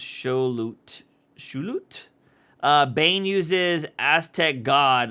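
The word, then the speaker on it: Xolotl: Zolo, pronounced Shulut.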